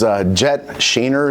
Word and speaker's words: Jet Shaner: Next one is Jet Shaner is how you pronounce it.